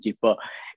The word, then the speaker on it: JIPÓ: hipopótamo o de hiccup, si lo decimos como J. So, por eso decidimos pronunciarlo con el sonido de Y, hipo.